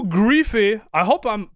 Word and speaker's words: Pierre-Loup Griffais: OS and Pierre L griffy I hope I'm pronouncing his name well I believe it's French but this is how we pronounce it in French Pier L gri is in this interview